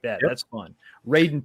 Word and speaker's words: Raiden: Raiden 2 is one of my favorite games.